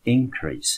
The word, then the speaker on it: increase: 的是呢，这个字的音节重音有两个，当它当作名词增加的时候我们念成 increase，当作动词